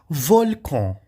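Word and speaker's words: volcan: de e nesse caso volcon Aqui nós temos volcon que é o vulcão a letra N em francês nós vamos pronunciar on tá volcon volcon tá onvi que é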